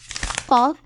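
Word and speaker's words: قاف: rich, emphatic sound that's somewhere between K and Q. It's like trying to gargle without water. Practice makes perfect. For example, Qaf, Qa, Qamar, Qaf, Qa, Qalb.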